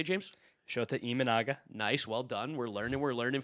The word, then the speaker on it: Shota Imanaga: Shota Imanaga.